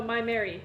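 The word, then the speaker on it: Maimeri: to say Miami Blue my Mary blue no my Mary yep my Mary it's spelled weird m a i m e m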